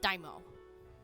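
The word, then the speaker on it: daimyo: I'm pretty sure it's pronounced Daimo.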